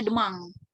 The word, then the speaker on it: demain: Nah, besok itu demang, tulisannya seperti ini, demain ya, dibacanya demang.